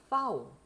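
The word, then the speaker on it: Vau: 자, 이게 영어의 V하고 다르죠. 영어의 V는 유성음이란 말이에요. 그래서 V 이렇게 하지만은 독일의 파우는 F하고 같은 발음이 나요. 같은 발음이 납니다. 다만 독일어에서 가끔 요 파우가 쓰였는데 영어처럼 발음하는 경우가 있어요.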